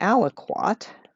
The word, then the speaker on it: aliquot: that were in the aliquot which is just a word i like rhymes with kumquat over liters of the